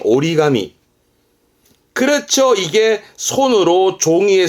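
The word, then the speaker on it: 折り紙: 종이를 접는 종이 적입니다 발음은 오리가미 오리가미 요때는 땡땡 붙어서 발음이 오리가미 그렇죠 이게 손으로 종이에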